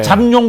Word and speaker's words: 잠룡: 자, 그럼 두 번째는 흔히 이제 뭐 13 잠룡 발음 잘해야 돼요. 누구 예. 잠룡 그러기도 하는데 예. 잠룡 예, 잠수할 때 잠입니다. 잠수하고 있다는 뜻인데 어떤 분들 있죠?